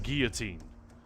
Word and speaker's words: guillotine: I'll have this guillotine down and... There we go. He pronounces it guillotine. But for whatever reason, Bill Nye is like, guillotine.